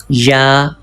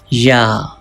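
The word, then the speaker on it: ي: For pronouncing Ya, touch the middle part of the tongue with the middle part of the palate. From here, you can pronounce Ya. Ya. Ya.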